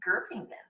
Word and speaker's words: Göppingen: spot, and she said, you said it funny, it's Göppingen.